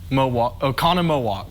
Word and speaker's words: Oconomowoc: yeah how would how would you go about pronouncing this uh city in wisconsin o'connor o'connor oconomowoc i'd give that to him yes it is